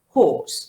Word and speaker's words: horse: the oh oh no horse as it is a long sound the ra is not pronounced horse good number two razia